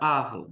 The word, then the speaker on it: Arles: região da Provença chamada arla se escreve se diz arles né se escreve arles e eu sou francesado a gente fala a arla e ali ele produz